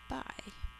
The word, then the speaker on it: buy: Buy. Let me just check on the rules for this one. Oh, excuse me. Buy. We say it with 1 syllable.